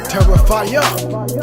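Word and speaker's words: תרפים: Reading from the Hebrew, H8655, and it's pronounced teraphayim, plural, meaning idolatry, in its purest sense or form, as if it was such thing as that.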